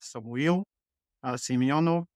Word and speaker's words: Samuil Simeonov: and Cy's future actually my name is pronounced Samu Simo originally I come from